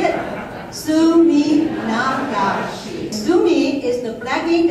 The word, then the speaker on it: Suminagashi: It's Suminagashi, so if you don't say it right, I will sue you. You want to follow me to say it? Suminagashi.